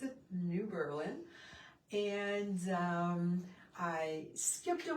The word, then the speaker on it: New Berlin: And yes, in Wisconsin, we do pronounce it New Berlin.